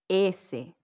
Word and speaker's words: ese: Ese.